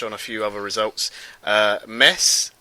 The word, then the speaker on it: Metz: Metz, as I'm told they are supposed to be pronounced, not Metz.